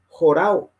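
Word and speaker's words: ὁράω: Los que les gusta buscar pueden mirar ese número y dice jorao. Se escribe O-R-A-W, que es una O, jorao.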